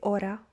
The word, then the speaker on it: hora: ace and basically the h is silent in spanish we don't pronounce it we say hola we don't say hola we say ora we don't say hora